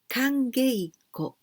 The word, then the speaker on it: kangeiko: Kangeiko. Well, here we pronounce geiko instead of keiko because it's easier to pronounce like this because before there's other word, kan. So we say kangeiko.